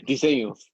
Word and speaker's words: Diseños: Oh, no, I said it wrong again. Diseños. Diseños, Munoz Diseños.